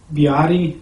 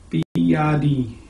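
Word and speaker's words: 比亚迪: Biadi, I think is how they pronounce it there. Biadi.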